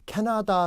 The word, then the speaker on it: 캐나다: 같이 확인 했으면 좋겠어요 캐나다 라는 나라 이름이 있습니다 자 물어보겠습니다 액센트가 어딨습니까 택 앞에 있죠 많습니다 나하고 다 에는 액센트가 없어요 앞에 있습니다 켓 나 딱 발음